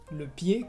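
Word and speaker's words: pied: Por ejemplo, después de una vocal, le pie, que es el pie, o también froid, que es frío.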